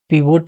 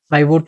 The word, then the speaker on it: pivot: तो देखिए इसे अलग-अलग कंट्री में अलग-अलग तरीके से प्रोनाउंस किया जाता है। जैसे कि अमेरिकन एसेंट में इसे पीवोट टेबल बोलते हैं। तो ब्रिटिश एसेंट में इसे पाइवोट टेबल बोलते हैं।